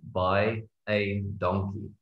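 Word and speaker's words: baie dankie: is by a donkey so for you to pronounce that all you need to say is buy a donkey and just there you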